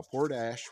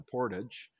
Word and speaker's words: Portage: Old Timers around here this is called poor Dash now Port Ash was kind of a mispronunciation a Portage or Portage in French and the Portage roads